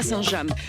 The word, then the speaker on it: Saint-James: Aujourd'hui je suis à Saint-James, mais si je le prononce correctement, je suis à Saint-James. Parce que si vous alliez de l'autre côté de la Manche, très certainement vous trouveriez Saint-James, mais ici nous sommes